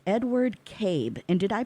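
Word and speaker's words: Kaib: And so it's Edward Cabe. And did I pronounce that right? It's K-A-I-B? Cabe. Cabe. It is Cabe. Yes, Cabe.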